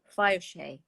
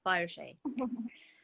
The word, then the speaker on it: Fireshay: I mustn't say his name wrong because I get so much trouble. He told me off. Fireshay. There you are, Tyler. I said it right. Fireshay.